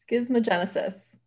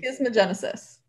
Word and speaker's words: schismogenesis: Complementary schismogenesis.